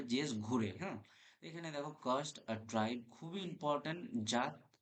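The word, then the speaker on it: Ghurye: এখানে দেখ ঘুরঘিয়ে রয়েছে বানানটা। উচ্চারণটা যেটা হবে জেএস ঘুরে।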